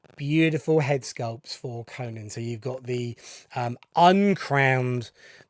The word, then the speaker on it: Conan: so this is the Mezco 112 King Conan, not Conan. Hello, Jay, my friend, who always pulls me up for my pronunciation of Conan.